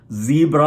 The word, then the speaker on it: Sie: Zebra എന്ന് പറയില്ലേ, അതുപോലെ സി എന്നാണ് പറയുന്നത്.